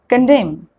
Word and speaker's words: condemn: N is not pronounced when it comes after M at the end of a word. For example, column, hymn, autumn, solemn, condemn.